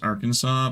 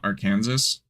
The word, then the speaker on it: Arkansas: It's weird how Arkansas is pronounced Arkansas but not our Kansas but Kansas is pronounced Kansas.